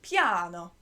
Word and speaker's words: piano: you say piano piano so it's spelt like a piano but you say it with an italian accent piano you say soft is